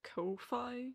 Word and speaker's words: Ko-fi: Well, you see, I pronounce it like Ko-fi, you know, like lo-fi.